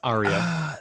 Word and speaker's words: Arya: you a note you didn't take it it's arya that's the it's ariel sorry you have to pronounce it like she does oh yeah uh